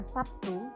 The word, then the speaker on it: Sabtu: Misalnya fonem B pada kata baru diucapkan sebagai B, tapi dalam kata Sabtu diucapkan sebagai P.